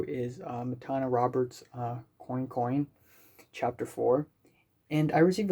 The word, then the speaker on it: Coin Coin: uh matana roberts uh coincoin chapter four and i received a comment saying like oh the pronunciation is actually coin coin and not quan quang a lot of people